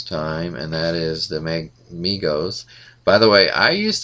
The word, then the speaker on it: Mego: always call them Megos before I realized it was pronounced Mego. I was wondering if anybody else did that. Surely I'm not the only one, but I had never, I don't think, heard it pronounced until many years later, and I was really surprised it was Mego and not Mego.